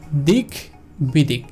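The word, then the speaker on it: দিগ্বিদিক: যুক্ত বর্ণ হিসেবে রয়েছে সো এটাকে আমরা আলাদা আলাদাভাবে উভয়কেই উচ্চারণ করব, অর্থাৎ দিক বিদিক, দিক বিদিক, দিক বিদিক।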